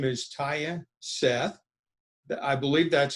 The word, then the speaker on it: Tya Seth: from the isu golf team her name is taya seth i believe that's how you pronounce it right yes sir and uh you